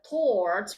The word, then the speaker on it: toward: Okay, so this is you guys is gonna pronounce it as toward. As if like there is a th and o with the okay No, the W is like a silent like that. Towards.